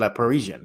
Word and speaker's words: Le Parisien: Again, he is media Wemby correspondent for La Parisien. I cannot pronounce it. La Parisien.